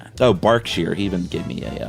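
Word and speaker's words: Berkshire: So, it's Barkshere, but it's spelled Burkshshire.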